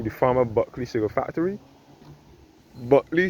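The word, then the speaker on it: Bulkeley: Buckley spelled B-U-L-K-E-L-E-Y. That is how Buckley here in Barbados is spelled, B-U-L-K-E-L-E-Y.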